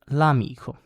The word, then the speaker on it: l'amico: Examples, l'amico, and it's pronounced like it's part of the word. So don't take too much notice of this apostrophe in the pronunciation. You don't need to do a pause or anything like that. You need to pronounce it l'amico, like it's all one word.